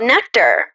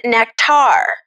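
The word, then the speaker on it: Nektar: a tech company and their name is spelled n-e-k-t-a-r and they want to be called nectar but everybody pronounces it nectar then you thought they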